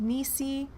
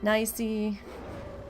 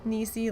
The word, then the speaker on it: Nisey: And yes, my name is pronounced Nisey, not Nisey. Nisey like Kneesee.